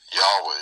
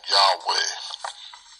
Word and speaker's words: Yahweh: They didn't really know how to even pronounce YHWH, I don't think, we don't know. But I'm just saying Yahweh. It seems like it's probably a good pronunciation of that, so that I can speak it.